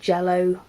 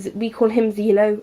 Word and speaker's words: Zelo: I know people it's pronounced Jello, but we call him Zelo over in the UK.